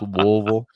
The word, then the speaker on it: Louisville: And by the way, that is the correct way to say it. You have got to pretend like you're slurring with a whole bunch of bourbon. That's Louisville.